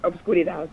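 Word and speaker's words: oscuridad: So pronounce it correctly for me. Yes, it's obscuridad.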